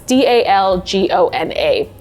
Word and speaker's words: Dalgona: And to this day, I butcher the name of this, and so it's DALGONA coffee.